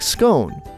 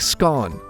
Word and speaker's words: scone: about cones is that there's a long-standing debate over the proper way to pronounce the word some people pronounce it like scone While others pronounce it like scone however the pronunciation can also vary depending on the region of the UK so if you're looking